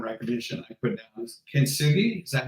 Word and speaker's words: Kintsugi: My track, one of my blue ribbon tracks from Pattern Recognition I put down is Kintsugi. Is that how you pronounce it? Track number 7. Kintsugi, yeah.